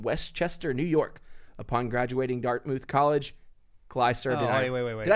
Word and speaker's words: Dartmouth: marine corps from westchester new york upon graduating dartmouth college cly survival way did i say it wrong dartmouth dartmouth dark mouth i didn't say no i didn't say dark